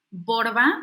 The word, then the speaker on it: Borba: de la doctora michele borba michelle m hl l borba como se escribe como se escucha con b de burro